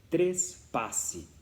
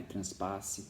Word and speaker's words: trespasse: A primeira coisa a ser levada em consideração é que se escreve trespasse, como está na tela. Não é transpasse, não é trepasse, não é trapasse, é trespasse.